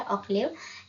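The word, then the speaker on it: Hoccleve: है थॉमस ऑकले ने इसमें इवन दो एच लिखते हैं लेकिन प्रोनाउंस ओ से करना है ऑलिव इसमें ये उन्होंने चौसर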